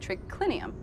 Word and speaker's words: triclinium: i n u m in Latin it's spelled as it sounds but here trinium has